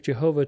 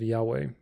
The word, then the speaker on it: Yahweh: biblical scholars and linguists do not believe Jehovah to be the proper pronunciation of Yahweh. There was no true J sound in ancient Hebrew. Even the Hebrew letter Vav, which is transliterated as W in YHWH, is said to have originally had a pronunciation closer to W than V of Jehovah.